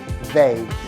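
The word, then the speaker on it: Veil: 1975, uma mulher que se chamava Simone Weil, não é Weil igual, e aí, Weil? É o sobrenome dela, tá? Se escreve V-E-I-L, Weil.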